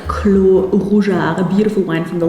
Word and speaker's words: clos: Next one is clo. It's written with s in the end but the French pronounce it without the s. So clo.